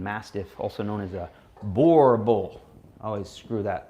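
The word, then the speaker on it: Boerboel: pound South African Mastiff, also known as a Boer Bull. I always screw that pronunciation up. Boer Bull. I can't do it. You had it right the first time. Boer Bull.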